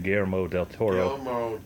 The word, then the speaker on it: Guillermo del Toro: Especially if you like Guillermo, or how do you say his name, Guillermo Del Toro.